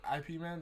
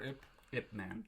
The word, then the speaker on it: Ip Man: was like the Kingpin IP man that's how you say it or if man I believe I believe I always pronounce the IP man oh damn my dad